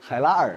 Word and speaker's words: Hailar: Hailni? Did I say it wrong? Hailar. Hailar, okay. Hailar. I understand now.